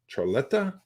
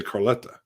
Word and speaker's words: Charletta: I always say it wrong. Charletta? I always want to say Carletta. Yeah. Charletta.